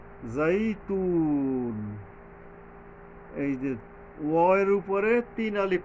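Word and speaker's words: والزيتون: টানতে হয় এখানে গ্রামারটা এরকমের ওতনি ওজাইতুন জাইতুন এইযে ওয়প উপরে তিন আলিফ টানতে হবে।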